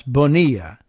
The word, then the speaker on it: Bonilla: Eva, perhaps Bonilla. We'll give it the Spanish pronunciation because they still frequently do that with that surname, even down in Texas.